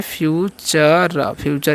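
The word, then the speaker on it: future: ठीक है, अब समझिए लास्ट में फ्यूचर, इसे हम क्या बोलते हैं, फ्यूचर। यहाँ पर TUR का उच्चारण च होता है।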